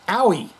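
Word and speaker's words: Aoi: First syllable rhymes with cow. Ow. Second syllable. E. E. Like the letter E. E. Now put them both together real fast. Owie.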